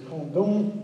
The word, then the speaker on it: Condom: The name of that town is Condom. That's the way you pronounce it in French.